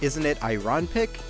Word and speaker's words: Isn't It Iron Pick: I'm pretty sure that this one is meant to be pronounced like Isn't it Iron Pick? To be a play on the phrase Isn't it ironic?